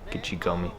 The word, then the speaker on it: Gichigami: Gichigami is how you say that in Ojibwe.